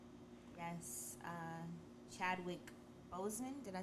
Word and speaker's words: Chadwick Boseman: Yes, Chadwick Boseman, did I say his name right?